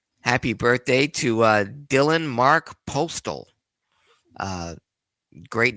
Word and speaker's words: Postl: Happy birthday to Dylan Mark Postal. Great name, but you would know him better as Hornswoggle. Happy 38th. Good guy. Yeah. Dylan Mark Postal, not Postal but his last name is spelled Postl.